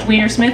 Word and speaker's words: Weinersmith: So first off, it is pronounced Weinersmith, and I also think that's hilarious.